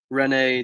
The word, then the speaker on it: René: Yeah, Rene Descartes. Rene. Yeah, I think it. that sounded better. Yeah, thanks. Rene. Not Rana Descartes.